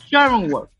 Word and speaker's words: Schrödinger: Pero a ver, ¿cómo se pronuncia, Rebeca? Schrödinger.